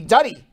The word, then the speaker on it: Duddy: Not Duty, Duddy. I would say his name is Duddy, not Duty, right? If I had to take a guess, it's Duddy.